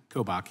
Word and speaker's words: Kobach: general kobach am I getting it close to pronunciation sir kobach yeah thank you so very much um I've